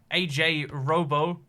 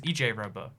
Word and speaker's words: EJ Robo: AJ Robo is EJ Robo. I was pronouncing it like AJ Robo, but EJ Robo says I had a choice between you and another YouTube stream.